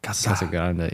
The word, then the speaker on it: Casa Grande: oh you rolled that Kasa Grande yeah they they teach they teach you how to say it when you're you R the r not grande no it's not Grandy either they get mad at that but yeah and